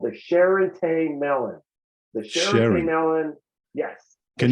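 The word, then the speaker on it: Charentais: available year round this variety is called the sherate melon the melon yes can you spell that spell that c-h-a-r-e-n-t-a-i-s it is also referred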